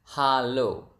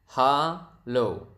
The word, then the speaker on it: halo: Expressions number one is hello is quite similar is Halo Halo okay hello hello so